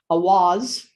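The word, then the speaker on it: Eihwaz: It is pronounced Awaz.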